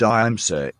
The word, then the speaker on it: ahimsa: Etymologically, the word ahimsa, in Sanskrit, literally means Why not pronounce it ahimsa? Ahimsa, ahimsa. ahimsa, Not Haimsa. Ahimsa.